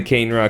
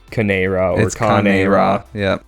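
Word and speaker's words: Kane-Ra: I was doing the cane raw cuz I used to call him that but I was informed that it was like can or ra so but it it doesn't look like it's spelled that way. It's cane all one word.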